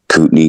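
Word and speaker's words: Kootenai: Um Coupney County. I'm sorry. What? Coupney County. How do you spell that?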